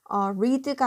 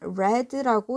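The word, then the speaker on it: read: 과거형으로 쓰인 거거든요 그래서 이거를 리드가 아니라 레드라고 읽어야 됩니다 스펠링은 똑같은데 글자는 똑같은데 발음은 레드라고 있죠 그 주소를 읽었어요 그리고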